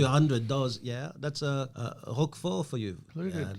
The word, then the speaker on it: Roquefort: Roquefort. So you don't say Rochefort, it's Roquefort.